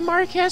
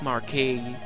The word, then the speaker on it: marquis: how severe the fires the mark ass safe it's pronounced marquis the castles under attack